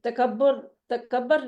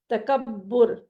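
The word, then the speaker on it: تکبّر: ہم اردو میں کیا بولتے ہیں؟ تکبر. نہیں، تکبر نہیں، عین کلمہ پر پیش بولنا ہے تکبر.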